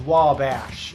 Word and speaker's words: Wabash: you could have been because it's only two syllables i know how to say it but i don't know how to explain it's wabash so i feel like the wall is where you hit it wabash oh nailed it